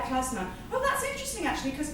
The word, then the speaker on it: klezmer: Oh, klezmer music. It's pronounced klezmer. Oh, right, yeah, klezmer.